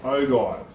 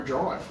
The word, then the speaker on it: ogive: Let us know in the comments below if it's ogive or ogive. But how are you going to do it when it's spelt the same? If it was ogive, it'd have a J in it.